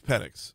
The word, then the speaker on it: Penix: drums he ended up being replaced by Michael penx yes I finally did oh I don't think I've done that on the show his his last name is penx but it's spelled penix p n iix and I I